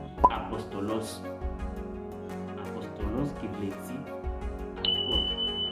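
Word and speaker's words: ἀπόστολος: Nous dit moi apôtre la sortie dans la langue grecque. Qui est écrit comme ça. En même temps tout qui prononcé apostolos.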